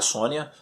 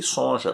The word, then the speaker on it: Sonja: sonja ações já que na verdade é a sônia a eu sempre pronuncia e sonja porque tava escrito só então por que que vai ser sônia né porque a outra língua porque lá onde foi criada é assim que falava pois é mas eu